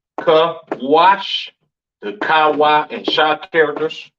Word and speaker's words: Cush: Cush, pronounced Kawash in the Hebrew, all right?